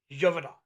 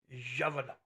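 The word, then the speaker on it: Gévaudan: Gevaudan. Oh, yeah. Beast of... Say it again. Gevaudan. Gevaudan. How do you spell that?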